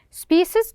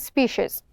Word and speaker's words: species: to notice you that this species we can pronounce by two ways species and species sporic which means having no